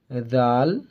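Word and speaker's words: ذال: আজকে আমরা পড়বো দাল জাল র জল দাল জাল জাল জাল। জিভাটা আপনারা দুই দাঁতের মানে বের করবেন একটু হালকা বের করবেন জিভাটা দিয়ে উচ্চারণ করার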